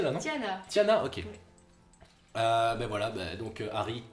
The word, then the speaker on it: Tiana: Parce que j'ai très mal prononcé là, non? Tiana.